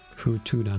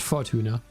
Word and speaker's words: Futuna: Futuna, not Fortuna. I was mispronouncing it earlier.